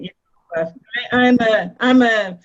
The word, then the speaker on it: Yehovah: or Hashem, or So I always pronounce it Yehovah. I'm on Nehemiah Gordon's side. It's Jehovah.